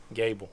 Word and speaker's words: Goebel: Is it pronounced Goebel? No, Gable. Gable.